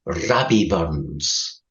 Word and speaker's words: Rabbie Burns: The national poet of Scotland, Robert Burns, or as we pronounce him, Rabbie Burns, once wrote, "Oh, I'd some great poor, the gifty gies, to see ourselves as others see us."